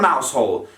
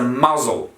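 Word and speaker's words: Mousehole: in the mouth hole except there's not a mouse hole it's a muzzle muzzle not a mouse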